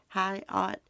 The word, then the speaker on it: Hyatt: vanished ganon's biological mother landon uh hyatt is how you say that high art was in south carolina